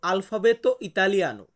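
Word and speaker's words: alfabeto italiano: বলবো ইতালিয়ান বর্ণমালা এটাকে আমরা ইতালিয়ান ভাষাতে বলবো আলফাবেত ইতালিয়ানো কি বলবো বলুন তো আমার সাথে আলফাবেত ইতালিয়ানো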